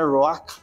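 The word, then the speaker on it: רוח: De hecho, tiene una pronunciación así media extraña, era ruach, ¿verdad?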